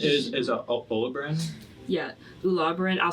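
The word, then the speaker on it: Ularboran: Ulabbran. I'll spell it for you guys.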